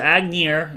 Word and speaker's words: Aignegeir: Okay, so Agnir is spelled Aignegeir. And this is a dwarvish word, so you can tell it's dwarvish, but you don't know what it means.